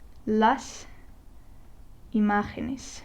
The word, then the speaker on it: imágenes: So la imagen, las imágenes.